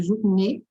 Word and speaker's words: journée: né, como nesse caso, journée. Esse E final, ele não muda nada na pronúncia, só para indicar que é feminino.